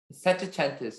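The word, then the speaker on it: settecentista: of the information please set atentus is the only pronunciation um it's a noun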